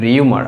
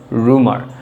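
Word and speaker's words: rumour: আমরা প্রোনাউন্সিয়েশন করি হচ্ছে রিউমার, আসলে উচ্চারণটা হবে রুমার।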